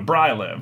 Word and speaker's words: Bryliv: No, it's got to be Bry, because it's Brian, so Bryliv.